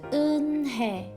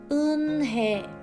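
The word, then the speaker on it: Unhei: "Yes, it's pronounced Eunhae." "And it means grace," Mr. Kim added. "Eunhae," Joy said slowly and this time perfectly.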